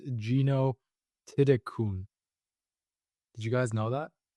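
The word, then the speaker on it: Jeeno Thitikul: So, I mean, her name, it's Gino Tidikul, but if you actually look at how it's pronounced, I believe it's Gino Tidikun.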